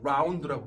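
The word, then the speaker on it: ∂: 이게 편미분이라고 하는 거야. 라운드라고 읽어.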